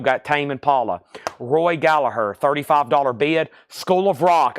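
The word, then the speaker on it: Gallagher: and I just found out recently it's not pronounced gallager Roy gallagur this is called calling card this is a Japanese pressing this is what I'm used to seeing near mitt minus and pristine Roy Gallaher it has the Japanese inner sleeve with it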